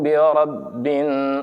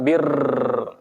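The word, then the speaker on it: بِرَبِّ: Qul a'udzu birabbin, bukan bir, tapi ra-nya itu adalah ra tafkhim atau tebal karena berharokat fathah. Ra itu bukan huruf bibir. Jadi ketika pengucapan ra bukan mulut kita ra, tapi ra lidah di pangkal, di atas. Ra bukan ro bukan, tapi ra.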